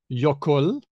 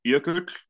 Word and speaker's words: Jökull: There's Icelandic jökull. Oh, hang on. Hedvig, as the Icelandic adjacent person. Jökull? Actually, I can pronounce it, actually.